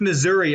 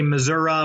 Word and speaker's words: Missouri: No, it's Missouri. Only the fancy politicians say Missouri when they're out trying to appeal to the more rural people for some reason.